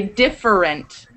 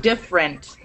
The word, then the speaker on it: different: it comes out several you don't say different comes out different right so a lot